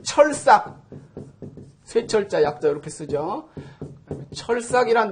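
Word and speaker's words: 鐵索: 요 찾을 색자 같은 경우도 뭐 색인, 사색 그럴 때는 찾을 색으로 읽지만은 그 철삭, 쇠철자 약자 이렇게 쓰죠.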